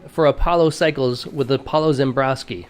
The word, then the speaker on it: Ziembroski: Apollo cycles with Apollo zembrosky am i pronouncing your name right you are you're nailing it okay great nice all